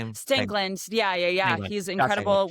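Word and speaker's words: Stangland: was had left because so I saw Scott Strangland. Is that how you say his name? Stingland.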